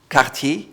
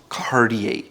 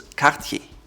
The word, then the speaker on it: Cartier: Cartier, not Cartier. The R comes from the back of your throat, which is typical French, so it's Cartier.